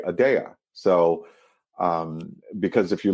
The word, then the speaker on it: Aadya: Detroit um and then I inverted the Y and the a intentionally so that it still looked like Adia but you say adaa so um because if